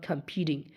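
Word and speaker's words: competing: তাহলে COM খাম, ফি ঠিং অথবা ডি, কারণ টি দুই পাশে ভাওয়াল আছে, দেখো তাহলে টিটার উচ্চারণ ডি এর মতো হয়ে যাবে। তাহলে খাম, ফি ঠিং অথবা কম্পিটিং।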